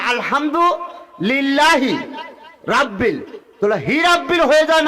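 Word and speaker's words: الحمد لله: আমরা হই আলহামদুলিল্লাহ।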